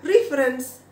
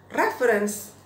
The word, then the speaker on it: reference: Jadi orang bacanya yang saya dengar reference karena merujuk pada tadi river tadi ya, tapi sebetulnya bacanya reference.